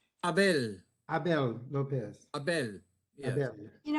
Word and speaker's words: Abel: Do you know how he pronounces his first name? Abel.